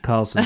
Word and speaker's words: Carlsen: one chess player Magnus Carlsen, what a name, which is a great name, what isn't a it? name, although it technically should be pronounced Magnus Carlsen, but anyway, he has